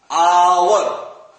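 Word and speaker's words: hour: एच से start है, इसमें एच का प्रोनाउंसिएशन हॉर्स, ठीक है, यानी कि एच यहां पे एकदम बिल्कुल कोई रोल ही नहीं है यहां पे, आवर, ठीक है ना, इसलिए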